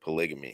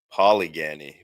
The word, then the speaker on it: polygamy: He kept mispronouncing the word polygamy. He said polyanny many times even though the others were saying Tim Craig."